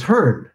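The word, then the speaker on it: Hearne: So LL Bean from Maine says, hi from Medford, Oregon, and the E is silent. So it is, I got to go back up and find it here. So it's Hearn.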